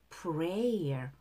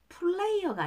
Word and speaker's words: prayer: You are the answer to my lonely prayer. R 발음의 prayer. Player가 아니라 prayer.